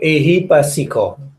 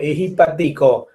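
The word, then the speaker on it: ehipassiko: Ehi pasiko. Ehi pasiko mean please come to practice. Ehi pasiko. Ehi patiko in Burmese pronunciation. Ehi patiko. But in international pronunciation, ehi pasiko.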